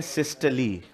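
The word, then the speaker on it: systole: ये है सिस्टली और ये है डायस्टली। सिस्टोल डायस्टोल सिस्टोल डायस्टोल करना मत, मेरे को चिढ़ मचती है। अलील अलेल मतलब प्रोनाउंसिएशन सुधर, काम आएगा आगे चलकर। मतलब इसके प्रोनाउंसिएशन होती है सिस्टली डायस्टली, ठीक है। सिस्टोल डायस्टोल नहीं बोलना, ठीक है।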